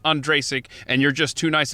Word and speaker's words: Ondrasik: because i have always heard your last name pronounced andrasik i've never heard you correct anyone i'm just making sure it's not andrasic and you're just too nice of a guy